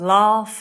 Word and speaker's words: laugh: good one Gabby's car the sound of r as in Far large after that then in the unusual spelling box there's aunt and laugh and heart that is very confusing